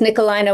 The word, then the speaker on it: Nikolijne: But Nikolijne is Nikolijne with a silent J.